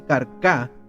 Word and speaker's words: Carca: Carca también aparece allí en el mapa. Dice Carcá con acento en la última A.